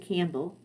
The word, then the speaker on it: Campbell: with MC Campell and I know most people pronounce it Campbell I I can't bring myself to just do that P is a silent it's so weird